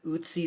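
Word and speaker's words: Ötzi: archaeology and thinking about what cultures have is Utsie the Iceman. Look up Usy the Iceman. It's spelled O TZI.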